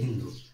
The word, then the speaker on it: হিন্দু: হিদুস এই হিদুস থেকেই হিন্দু কারণ পার্সিকদের উচ্চারণে স এর উচ্চারণ ছিল না ওরা সকে হ উচ্চারণ করতো এজন্য সিন্ধুকে ওরা বলতো হিদুস এই হিদুস থেকেই হিন্দু